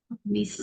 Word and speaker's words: missed: I missed it. Missed. I missed her. I missed her so much. I missed her so much. Missed. I missed. Directamente suena solo la D. No suena la E.